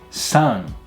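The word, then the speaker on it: 三: Now keep in mind this in at the end of san is not san, san, with like a really hard in sound. It's san. It's kind of said more in the back of the mouth.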